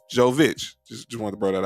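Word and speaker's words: Jović: joe joe vich yeah so not joe kitch joe vich just want to brought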